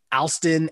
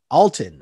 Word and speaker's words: Alton: Alston, everyone likes Alston, but he looks really, or Alston, am I pronouncing his name wrong? Alton. Where did I get Alston from?